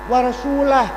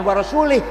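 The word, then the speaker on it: وَرَسُولُهُ: He salah salah bacanya harus waallaha barium minal musyrikinaasu warasulah. Allah tidak melindungi orang musyrik dan Rasulullah pun juga tidak melindungi orang musyrik. Warasulah. Jangan warasulih.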